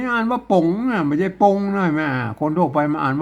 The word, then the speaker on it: ป๋ง: หลัก ภาษา ล้านนา ไม่ ต้อง ธุระ อ่าน ว่า ป๋ง อ่า ตัว รอด อัน นี้ ต้น ไม้ อ่าน